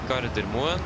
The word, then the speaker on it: Gardermoen: The correct pronunciation, okay, so that will be Oslo and Trondheim. But that's for the name. If you want the airport name, that will be Gardermoen and Værnes.